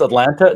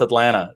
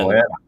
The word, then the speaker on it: Atlanta: So the second T is silent, such like in the city that I live in, Atlanta. So yes. People think it's Atlanta. No, it's Atlanta. Double N. Atlanta. That's right.